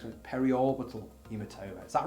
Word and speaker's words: periorbital: Okay, so I am being told off for mispronouncing it. It's periorbital, apparently, on the previous one. Periorbital hematoma.